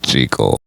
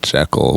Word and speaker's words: Jekyll: Robert Louis Stevenson intended for the name to be pronounced Jekyll. Only the first sound film adaptation pronounced it correctly, the Frederick March version. Every film after that said Jekyll, which unfortunately led to the mispronunciation butchering we created now.